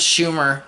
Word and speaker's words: Schumer: But I do first want to talk about the story and humor rhymes with Schumer, whatever. Humor rhymes with Schumer.